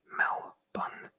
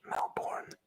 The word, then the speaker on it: Melbourne: just reading it up melbourne should be pronounced mal bun not melbourne that's true campero canberra